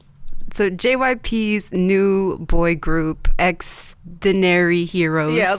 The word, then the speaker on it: Xdinary Heroes: jyp's new boy group extinary heroes yeah i was like how do you say this because the games are just very heroes the shortened form of extraordinary so accidentary heroes they are the new